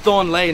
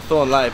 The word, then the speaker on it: Thornley: It's pronounced Thornley, not Thornley, but...